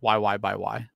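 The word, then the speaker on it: YYXY: is just uh pronounced y y by y oh okay like the x is a by interesting just know tomato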